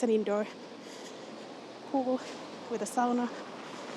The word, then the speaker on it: sauna: indoor pool with a sauna say SAA that's the Finish way to pronounce SAA I guess but just so you know it's SAA that's what you should be saying and it's kind of